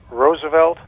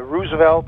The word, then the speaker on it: Roosevelt: Roosevelt is Dutch for a field of roses. So I I prefer Roosevelt as well.